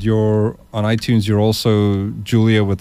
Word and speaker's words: Jul3ia: on iTunes you're also Julia with the silent 3 with a silent three yes J L 3 I a um and is it just Julia or do you use